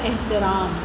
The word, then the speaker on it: احترام: لام کے اوپر زبر۔ احترام، الف کے نیچے زیر، ہے پر کچھ نہیں آئے گا، تے کے نیچے زیر، پھر رے پہ زبر۔ احترام ہوتا ہے یہ تلفظ، اس کا درست جو ہے احترام۔ اگلا لفظ ہے فضا،